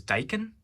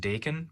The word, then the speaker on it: daikon: this is called died i guess the right way to say it is daikon is what i've been corrected on when i say it i've always called it dakin but i guess it's daikon but i don't usually grow